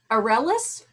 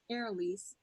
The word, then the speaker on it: Arelise: And Arelis or Arelise? Arelise. Arelise. Okay, I just mispronounced it both times, but I'll get that better and better every time.